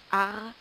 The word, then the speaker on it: art: on dit aussi un AR on fait la liaison un AR AR s'écrit a r t mais le T ne se prononce pas un A un riz